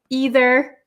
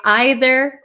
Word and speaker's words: either: I'm from originally and I say either and neither some people and especially British people I think say either or neither both of these pronunciations are okay both of them are understandable um at least in the